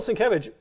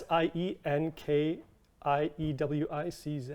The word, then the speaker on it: Sienkiewicz: It's S I E N K I E W I C Z. Wow. So cool. And I know that because I pronounced it Sienkiewicz. Oh, Sienkiewicz. I said no.